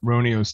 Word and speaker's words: Roniu: I'm the founder of Mega Cat Studios, and we're here to talk about Roniu's Tale, a game we have live on Kickstarter for the NES.